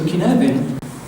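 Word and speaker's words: Cynefin: okay it's pronounced K the C is like a k and F is like a v k okay um it's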